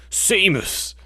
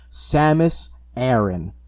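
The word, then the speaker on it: Samus Aran: name was aaron yeah i always just pronounced it aaron because it's just and then held off the tongue the most easily the smash brothers announcer really didn't help with any like childhood pronunciations because it was always like seymous when other m came out though and i know other m be damned by a lot of metroid enthusiasts um they finally in an official metroid game pronounce her name samus aaron and i was like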